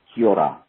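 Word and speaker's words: Kia ora: and the greeting that you guys were trying to say is pronounced Kiora.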